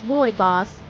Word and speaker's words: rooibos: say R goes correctly it's boy boss with a strong emphasis on the boy sound try it with me